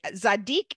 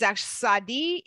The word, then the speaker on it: Tsade: spell a Zade right zadik is Sadi is actually the way that most Jews most rabbis will pronounce this section that they'll pronounce it as zadi Sadi that's how they will pronounce it you can see all